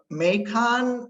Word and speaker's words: Macon: And they brought us to and held a meeting at Chariton Valley, which is in, is it Macon, Ryan, the way you pronounce it? Yeah, Macon, Missouri. Macon, Missouri.